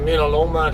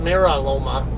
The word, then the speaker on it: Mira Loma: dc in midaloma california or is americans call it mira loma it's loma ours are usually pronounced like a d in spanish and that's a spanish word so it's how i pronounce it yeah it's the